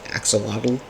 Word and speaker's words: axolotl: But I believe it is pronounced Chlodl Cat. In most English parlance, we say axolotl.